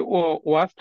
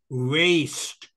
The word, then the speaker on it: waste: future but if we waste our time in a in sitting Idol uh in uh in a in Idol that then pron pronunciation of the word is waste waste waste not was waste waste waste our